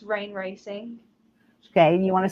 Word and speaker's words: Rayne: It's Rain Racing. Okay. You want to spell that for them?